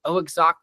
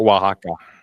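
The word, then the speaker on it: Oaxaca: Was it oxa? Is that correct? Wajaka. Yeah, I'm terrible with pronouncing these things.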